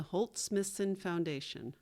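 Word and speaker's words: Holt/Smithson Foundation: The correct pronunciations of two mentions are Tekashi Morakami and the Holt Smithson Foundation.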